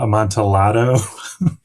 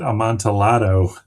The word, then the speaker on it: Amontillado: about the cask, and they pronounce it Amontillado as well back in the 70s. It's like, there's no way Lou Reed did not hear this and think that is how it needs to be pronounced.